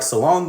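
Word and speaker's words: Salaün: end I also like Salon the rookie that they took with the number six pick who could also be pronounced Saloon being an unknown French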